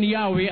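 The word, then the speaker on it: Yahweh: While inclining to view the pronunciation Yahwe as the more correct way, we have retained the form Jehovah because of people's familiarity with it since the 14th century.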